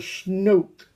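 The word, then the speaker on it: snoek: him from South Africa a thing called snoke I believe I don't is that the pronunciation s n o e k it's a fish from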